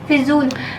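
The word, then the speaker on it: फ़ज़ूल: है वर्षिका का अच्छा फजूल लज का उच्चारण क्या होगा वर्षिका फजूल हां ठीक बिल्कुल तो फजूल खर्ची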